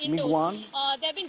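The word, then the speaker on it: Michaung: I'm told, Rajdeep, it's pronounced Migwan.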